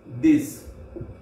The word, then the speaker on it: dix: H U IT with HUIT with 9 NEUF NAF NEUF NAF and 10 DIX this 10 DIX this.